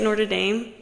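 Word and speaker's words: Notre Dame: bad they say it Nord Dame or they say wait the University of Nord Dame Nord Dame they say it like that atast it's okay I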